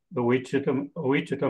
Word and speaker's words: Ouachita: We're going to the Ouachita Mountains. Always have trouble pronouncing that. It's kind of like Wichita, only Wichita, without a W on it.